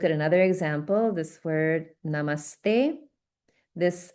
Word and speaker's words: namaste: So when we pronounce it, it becomes like namaste. Namaste. Okay. So I'm exaggerating a little bit so that it's clear, but you can hear the sort of doubling effect on the first sound in the conjunct syllable.